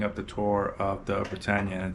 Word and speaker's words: Britannia: So I was corrected that it's pronounced Britannia and not Britannica like I've been saying.